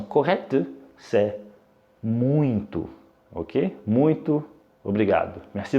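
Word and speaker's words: muito: avons encore un son nasal et alors la prononciation correcte si ce n'est pas muiteux mais moins toi avec un avec un saint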